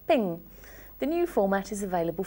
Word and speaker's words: PNG: portable Graphics Network specification the file extension is PNG but it's pronounced ping the new format is